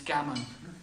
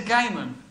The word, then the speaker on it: Gamon: Some people say my name's not really Gamon, it's Gammon. It really is Gamon.